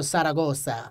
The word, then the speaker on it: Zaragoza: It was given to me by the great general Zaragoza. Wow! That's how you pronounce it, actually. Try it. Zaragoza. Zaragoza. You gotta get that Spanish TH.